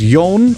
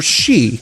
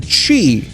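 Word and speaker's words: 四: 4 in Japanese can be pronounced as yon or shi, and Wycliffe is clearly saying chi in that clip.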